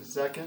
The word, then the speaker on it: Zekin: We got Zekin. Is that how you pronounce it? Yes, that's right.